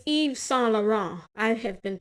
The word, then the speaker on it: Yves Saint Laurent: It's Yves Saint Laurent. I have been pronouncing that so that I could get that shit right.